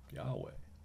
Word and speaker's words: Yahweh: in the second paragraph hebrew scholars generally favor yahweh as the most likely pronunciation yahweh hebrew scholars they point